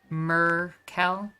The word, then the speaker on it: Merkel: people this entire time rhymes with urkel thank you merchants so it's merkel okay thank you i